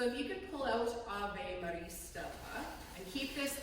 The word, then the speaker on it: Ave: We say it like that because we've anglicized it or westernized it or, Canadianized it, if you will. But we don't actually have 2 sounds on Ave, we have Ave.